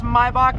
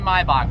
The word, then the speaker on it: Maybach: You guys don't like the way I pronounce Maybach? Then I'm gonna call it Maybach. Just kidding. Maybach music. It's actually Maybach, but whatever.